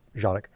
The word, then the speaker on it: Canik: Um, by Jeanic. Um, some of you may call it Canic. That's fine. I'm going to pronounce it the way it's pronounced, which is Janic.